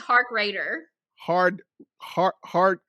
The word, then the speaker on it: Harkrader: say your last name it's heartbreaker no i'm just kidding it's hark raider hard heart heart say